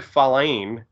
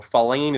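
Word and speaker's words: Feilen: Jared Falein, it's spelled F-E-I-L-E-N, so Falein is now a felon.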